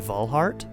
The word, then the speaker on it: Walhart: I was there as Roseanne was swallowed up by Emperor Walhart's overwhelming forces. This might also be a German pronunciation, which could be Valhart. So it's either Walhart or Valhart.